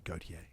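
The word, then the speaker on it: Gotye: That's how you say it, Gautier.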